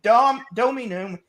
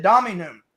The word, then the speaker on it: Dominum: I know how to pronounce Latin correctly. And Stevie Wonder and all of them all say Dominum. And he's the one guy who said Dominum. And I'm like, yes, you actually pronounced it right.